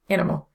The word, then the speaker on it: animal: In Spanish, animal carries emphasis on the final syllable, aka palabra aguda or acento agudo, or the acute accent, but in English it's on the first syllable, animal.